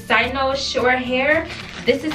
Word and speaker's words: Cynosure: apologize fast if I don't say right it's sighs no short hair this is how it's um this how it's pronounced char right there if you have to